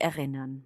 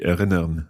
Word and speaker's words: erinnern: So it's best if you don't really pronounce the R at the end. You just make a sound.